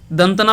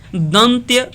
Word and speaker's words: दंत्य: ठीक उसी प्रकार से त, थ, द, ध, दंतना, दंतना पढ़ते हैं, बहुत लोग दंतना पढ़ते हैं, जबकि एक्चुअल में दंत्य न होता है इसका उच्चारण।